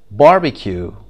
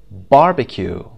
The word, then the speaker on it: barbecue: syllable syllable number three barbecue barbecue the first syllable bar something something the first